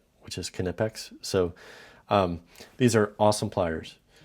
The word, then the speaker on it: Knipex: It is a German company, and that's how you pronounce it. We here in the United States tend to change everything, and so better known as Knipex, but I'm trying to